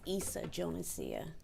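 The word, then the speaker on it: Yssa Jonesia: It's Issa Jonesia. Okay. Can you spell that for our court reporter?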